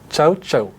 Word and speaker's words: CaoCao: Verouchka Becker, du coup directrice du développement, du marketing et de la communication chez Ciao Ciao. Exactement. Est-ce que je le prononce bien?